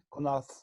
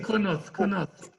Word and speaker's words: Connaught: Bon, Connaught, je ne sais pas si je prononce bien. Connaught, c'est prononcé à l'anglaise. Oui, c'est Connaught.